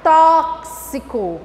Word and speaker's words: tóxico: Aqui é KS, CS, KS. Então, quando eu for pronunciar a palavra, eu vou pronunciar tóxico.